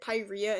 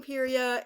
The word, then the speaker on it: Pyrrhia: I always used to pronounce it Pyrrhia in my older videos, but I get like hundreds of comments telling me I was saying it wrong.